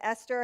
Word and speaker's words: Esther: me okay and then esther has a silent h which if you know the bible you're used to that if you don't know